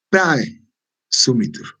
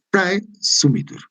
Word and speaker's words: praesumitur: Aquí, por ejemplo, el dolus non praesumitur, ¿no? O sea, prae es un solo sonido. ¿Por qué? Porque es un diptongo.